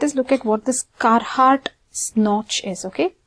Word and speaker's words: Carhart: In this video, let us look at what this carart snot notch is. Okay, carart snch or carart notch or kahart notch if r is silent.